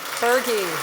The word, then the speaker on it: Buerge: He loves to be called Buerge, which I love. And he told me when I first met him that it rhymes with Fergie.